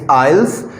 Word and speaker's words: IELTS: should tell you that people mostly pronounce is i let's it's not i'll eyelets it's ielts because we just uh do not pronounce it here so that sounds